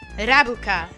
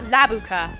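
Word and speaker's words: ラブカ: But he pronounced it la. It's ra. Rabuka, not labuka, rabuka.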